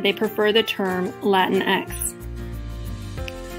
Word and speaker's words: Latinx: is pronounced latin x a pronunciation that doesn't exist in spanish ironically the spanish pronunciation